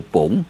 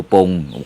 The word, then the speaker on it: ปง: จะ ไป ที่ อำเภอ ป๋ง นะ อำเภอ ปง ก็ บ่ ได้ นะ ที่ พเยา นะ ต้อง เอา ออก เสียง เมือง ว่า ป๋ง อำเภอ ป๋ง แต่ เขียน ว่า ป่ง ป ป ป ป